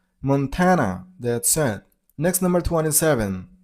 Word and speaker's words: Montana: You got a stress on the middle syllable. I mean on tan sound. So Montana. Montana.